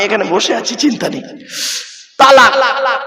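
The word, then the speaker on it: طلاق: বসে আছি চিন্তা নেই তালাক কি বলে শব্দটা কিন্তু তালাক নয় শিখে যান আজকে শব্দটা তালাক নয় শব্দটা হলো কি তলাক কি বললাম তলাক চলুন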